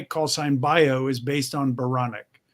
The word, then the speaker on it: Baranek: bio is based on baronic baronic rhymes with bionic i said i told